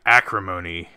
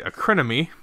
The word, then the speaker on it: Acrimony: don't uh anyway we're reviewing tonight acrimony uh or is just pronounces it incorrectly acronymy um it's not it's not spelled that way or even close um so this is